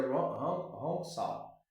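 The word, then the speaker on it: Hong Sau: E escreve H-O-N S-A-O, mas pronuncia Hong Sao, que ela significa eu sou o espírito.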